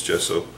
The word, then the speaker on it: gesso: prepare my canvases with gesso or sorry gesso I always want to say gesso no it's just so so don't make fun